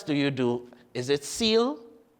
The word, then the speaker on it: CEAL: Is it SEAL? How do you pronounce SEAL? Consulting Engineers Associates Limited. CE A L. So we call it seal and seal green.